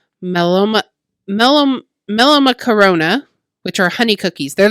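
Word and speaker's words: μελομακάρονα: But I looked them up how to pronounce them, and it's pretty straightforward. It's melomacarona, which are honey cookies.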